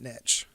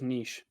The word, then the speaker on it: niche: i'm still finding that niche i thought it was niche niche niche however you want to pronounce it all right i don't